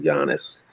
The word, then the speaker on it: Giannis: He defers too much to Giannis.